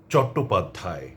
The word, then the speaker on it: চট্টোপাধ্যায়: এই যে শব্দগুলো শুনলেন এগুলোর প্রথমে যে অ আছে সেটি অ এর মতই থেকে যাবে এবং আপনারা হয়তো লক্ষ্য করেছেন সেটি অ হিসেবেই আমি উচ্চারণ করেছি শব্দগুলো আমি আবারও বলছি